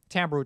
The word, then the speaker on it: timbral: So timbral changes, even though it's spelled with an I.